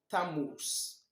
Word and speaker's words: Tammuz: The 4th month is Tammuz. Tammuz. It is spelled Tammuz.